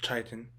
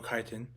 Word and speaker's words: chitin: The cell wall is built of chitin or chitin, however you want to pronounce it.